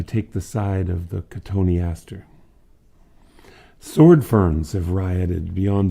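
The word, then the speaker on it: cotoneaster: limbed beings themselves these cottony aster tony aster spelled like cotton easter but pronounced as if tony astor sneezed when he said his name many lifeless branches have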